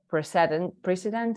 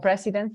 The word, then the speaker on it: precedent: And well, this body then sets like the precedent, how do you say precedente, Mauri? Precedent. Precedents, yeah. Not presidents, but precedents for the convention, for